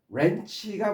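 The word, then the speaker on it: wrench: WR로 되면은 이때 W는 발음하지 않고 묵음이고 WR로 되면 뜻이 부정적인 의미라고 그랬어요. 그래서 렌치가 뭐예요?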